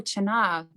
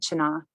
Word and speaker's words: Chana: There are a few different pronunciations of it depending on which region you're from, but on my grandmother and her sister always said Chana.